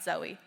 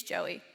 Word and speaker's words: Joey: it to you but my name's not zoey it's joey j-o-e-y and if you need